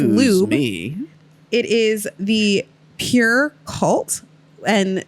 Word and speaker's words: Pjur: It is the Pure Cult, and that's spelled PJUR. I like to call it Pajur. Pajur. But it's supposed to be pronounced so pure.